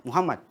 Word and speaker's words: Muhammad: Cuma karena nama aku disingkat, dia juga cuma bacanya Muh. Ya, Muhammad itu ya. Bukan Muh, Muhammad.